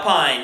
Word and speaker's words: Pyne: Pine, yes, Pine, and it's spelled Pyne. I believe is the correct way.